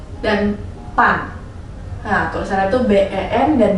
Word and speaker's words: ban: Untuk yang B, gue kasih kata pen dan pan. Nah, tulisannya itu B-E-N dan B-A-N ya. Teman-teman bisa baca yang kata ben ini jadi pen, dan kata yang bertuliskan B-A-N, ban, bisa dibacanya pan.